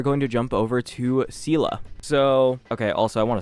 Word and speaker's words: Seele: We are going to jump over to Seele. So, okay, also I want to say this. I know it's pronounced like Zeela, but I just say Seele now.